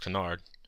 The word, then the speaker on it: canard: foods include frog wall duck pronounced Canard rabbit pronounced and snails